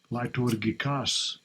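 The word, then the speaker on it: λειτουργικός: How it's pronounced there, ministering. Strong's G 3010. Liturgikos.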